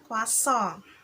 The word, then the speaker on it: croissant: kok di bahasa Indonesia croissant ya Tapi bacanya wasong Ya dari Perancis Hai kemudian ada resin